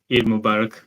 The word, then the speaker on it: Eid Mubarak: ending of um e Mubarak they say s Eid Mubarak yeah Eid Mubarak brother I'll see you on